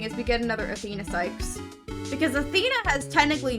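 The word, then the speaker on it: Cykes: Wait, it's pronounced Sykes, not Cakes?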